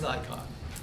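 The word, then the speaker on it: Naikan: sorry Nikon I always I don't like to say Nikon because it sounds like the camera and it's spelled like nikan but it it's Nikon n a i k an we'll do some Nikon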